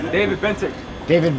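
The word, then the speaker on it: Bentinck: David Bentick. David Benton. David Bentick. Bent. Spell it.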